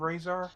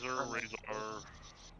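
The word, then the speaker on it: Razar: I am Razor. It is good to meet you. Oh, hi, Razor. What? I think I said it wrong. No, you didn't. Oh, but, oh. You said Razor. I didn't. Razor.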